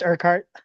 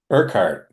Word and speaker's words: Urquhart: Um, uh Urkuart. Am I pronouncing that correctly? It's just Urkheart. Urkart.